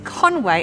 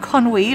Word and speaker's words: Conwy: our first destination so our first stop today is Conway and not Kon we like I thought learning the first things about how to pronounce Welch places properly this is conway castle